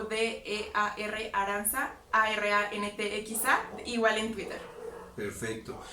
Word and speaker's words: Arantxa: En Instagram estoy como Dear Aranza o D-E-A-R Aranza, A-R-A-N-T-X-A, igual en Twitter. Perfecto. Qué diferente se escribe Aranza, ¿no? Sí, TX. TX.